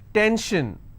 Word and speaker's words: tension: SION, tension, pension. So how many syllables in tension? 2. Tension, I will stress on ten.